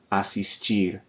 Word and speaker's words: assistir: We're going to say chegar, aprender, and assistir, stressing the final syllable.